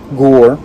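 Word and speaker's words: Gorr: strong this guy is gore which rhymes with thor jj i see what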